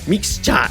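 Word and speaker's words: mixcha: mixture mixture yeah but the way they pronounce are japanese japanese main accent mixture mix cha m-i-x-c-h-a good it's pronounced like that so so um so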